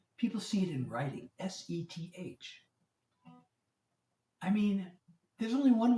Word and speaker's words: Seth: S-E-T-H, sound it out. It's Seth. It rhymes with Beth.